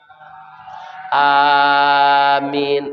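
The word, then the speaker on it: آمين: Amin. Baik tu barisnya itu ya. Aminnya tu pakai ya mati.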